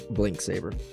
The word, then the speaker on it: Blink Saber: Is the X pronounced or is it just like blink saber? It's about a modern day hero going into a rift dimension to find a weapon in history to beat a guy up. Yeah. So, basically there's a catastrophe. X is not pronounced.